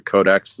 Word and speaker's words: COD3X: It's called the Codex. It's spelled COD3X .com, I hope.